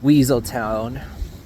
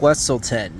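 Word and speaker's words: Weselton: the Duke of wlon everyone else pronounces it as Weasel Town but it's the Duke of westleton and right when we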